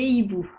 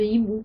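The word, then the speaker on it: hiboux: amis des loups des hibou notez que hibou a deux lettres muettes le h et le X les verbes à la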